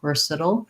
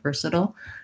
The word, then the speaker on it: versatile: it kind of goes right from that flap into the dark l so there's maybe a little schwa there or maybe just an l versatile versatile just like we were